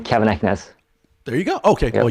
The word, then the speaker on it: Keven Eknes: how do we find you uh my name kevin eckness there you go okay well you made that